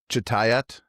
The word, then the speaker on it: Chitayat: Is it Chitayat? You got it.